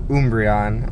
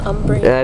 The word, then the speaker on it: Umbreon: my favorite is actually umbreon another eevee evolution okay it's dead i thought it was umbrella it's pronunciation thing whatever i fell asleep